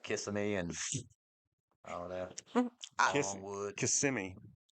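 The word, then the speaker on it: Kissimmee: and all that wood KMI long that's how the locals say it is how the local said or kiss me kiss me I anybody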